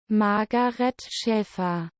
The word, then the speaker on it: Margaret Schäfer: This is how you say her name correctly according to Google. Margaret Schäfer.